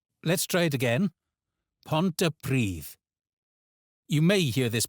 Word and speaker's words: Pontypridd: Pontypridd. Pontypridd. a town where the double D becomes the in this, and the stress is on Pridd. Let's try it again. Pontypridd. You may hear this pronounced as Pontypridd among English speakers and